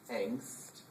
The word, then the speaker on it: Angst: call we have a it's pronounced differently it's called pronounced angst and usually teenagers do